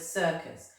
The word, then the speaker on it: circus: And it's our alternative pronunciation, isn't it? The letter C is making a S sound.